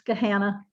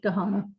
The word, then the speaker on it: Gahanna: didn't pronounce it right it's Gahanna but everyone who doesn't live here pronounces it Gahanna ladies and gentlemen